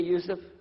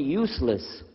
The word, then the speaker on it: Yusef: inshallah my name is Yusuf do you say Yusuf let me say Yusuf you're very good I wish you'd teach my wife she keeps mispronouncing it she calls me useless from the left now how